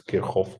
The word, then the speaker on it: Kirchhoff: The topic of today is Kirchhoff law or Kirchhoff law, as you like the way to pronounce his name. He's a German scientist, so we should pronounce it as Kirchhoff law, actually.